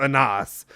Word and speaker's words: Anas: like uh wait yeah honest instead of anas or something like that